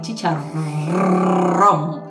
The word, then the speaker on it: chicharrón: es aún más es chicharrón charrón y con acento en la o asim mismo es vamos